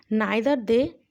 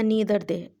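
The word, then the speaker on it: neither: देखें, नाइदर दे या नीदर दे दोनों कह सकते हैं।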